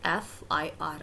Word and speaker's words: FIR: नो, the correct pronunciation is FIR, F, and the first sound is of vowel F.